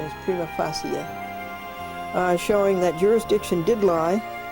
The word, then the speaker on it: prima facie: Virgos each had an obligation to ensure that bankruptcy petitions which did not make a prima facie, the correct pronunciation is prima facie, showing that jurisdiction did lie in the United